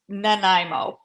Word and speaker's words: Nanaimo: because I couldn't pronounce Nimo but but I've been educated both by Google and by Christy Carpenter that they are pronounced Nimo but I'm still gonna